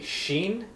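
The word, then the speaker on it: שין: is on the top right is called a sheen and it has that SH sound Asha the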